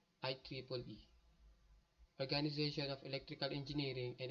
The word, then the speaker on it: IEEE: First is Institute of Electricals and Electronic Engineering or IEEE, pronounced IEEE.